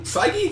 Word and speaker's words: Feige: Came out by Kevin Feige, right? Feige? It's Feige. Okay. Feige. It sounds like we're... I never know how to say it. It sounds like we're saying it wrong, but it's Feige.